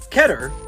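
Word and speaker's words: Keter: try to break out ketter it's a real hebrew word it doesn't rhyme with meter don't at me anomalies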